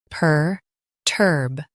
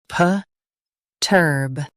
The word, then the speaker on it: perturb: Stress turb. Keep it strong and clear. PERTURB, PERTURB.